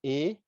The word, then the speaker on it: AIDA: Now, the reason why I say my girlfriend Ida is because that AIDA itself is spelled as A-I-D-A, AIDA.